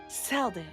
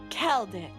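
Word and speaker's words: Celdic: Anyways, and your destination today is Seldic. Celtic, actually, is how it's pronounced. Keldic.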